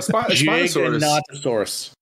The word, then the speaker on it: Giganotosaurus: Well, Giganotosaurus. It's basically Gigantosaurus, but he's pronouncing it like, in the more scientific way.